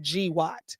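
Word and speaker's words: GWOT: So GW T equals global war on terrorism pronounced GWAT.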